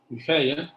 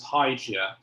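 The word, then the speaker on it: Hygieia: Greek word for health, eugeia, that originates from the Greek goddess Eugeia, probably pronounced like that in ancient Greek. It comes from the name of the goddess, and the anglicized pronunciation is Hygia.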